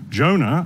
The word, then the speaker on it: Jonah: for a study of Jonah. I'm sure many of you know the Hebrew word for dove is Yonah, which we pronounce Jonah.